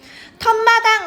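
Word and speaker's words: 툇마당: 뒷말의 첫 소리 니은 미음 앞에서 니은 소리가 덧날 때 사이시옷을 적어주는데 턴마당 같은 경우에 우리 어떻게 소리나 얘들아? 원래 터랑 마당이랑 합쳐진 거지? 발음할 때 턴 마당으로 소리가 나죠.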